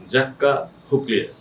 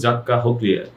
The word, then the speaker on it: Jacques Huclier: এটাই হচ্ছে right pronunciation, জাক্কা হুকলিয়ার। JACQUES মনে হয়েছে জ্যাক্স, আর HUCLIER মনে হয় যে হুকলিয়ার অথবা হুসলিয়ার, কিন্তু অ্যাকুরেট প্রোনাউন্সিয়েশনটা হচ্ছে জাক্কা হুকলিয়ার।